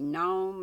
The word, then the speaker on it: gnome: Gnome is far eerier and fairier, and gnome is spelled with a G, silent G, than gnome without an G.